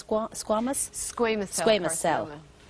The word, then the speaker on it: squamous: Now, the next one is the, how do you pronounce squamous?